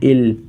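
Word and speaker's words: 일: इसे हम सीनो Korean number में कहते हैं इल यह आप लोगों के सामने टू लिखा हुआ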